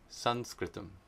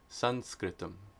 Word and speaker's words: saṃskṛtam: And then of course, have to explain why Sanskritam was spelled with the M with the dot underneath it and pronounced like a na, because it's Anuswara. Sanskritam. Sanskritam. Sanskritam.